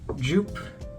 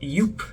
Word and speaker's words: Joop: particular perfume is called Jupe see Joop by Jupe it's a bit faded interestingly it's actually pronounced yupe which I did not know until recently but I think most